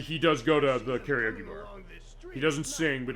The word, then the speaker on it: karaoke: you know I prefer which is technically the correct pronunciation of karaoke as far as it's not fine we say karaoke I say it that way but karaoke is the Japanese name and actually he does